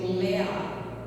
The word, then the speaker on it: Lia: Lia tem 2 significados. Alguns nomes na Bíblia têm 2 significados. Lia, que significa vaca selvagem, e os judeus, eles pronunciam Leá, que significa cansaço.